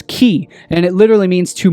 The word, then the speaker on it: chi: course ki is also the 22nd letter of the uh ancient Greek alphabet pronounced as as key and it literally means